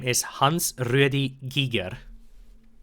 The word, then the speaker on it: Giger: name is Hans Rudy Giger it's not pronounced Geiger it's Giger it's